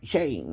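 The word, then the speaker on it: שֵׁן: different than us but that's s-h-e-n right and it sounds like shane right when you say it or ha shane right you've been saying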